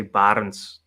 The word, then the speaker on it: Barends: and also uh uh how do I pronounce it is it brands uh Barnes crypto crypto has a crypto Channel as well in my language in my language we would say barons okay where are you